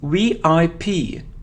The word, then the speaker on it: VIP: So it isn't VIP, it's VIP, VIP. For example, he's a VIP person, VIP. We pronounce it like 3 separate letters, VIP, VIP.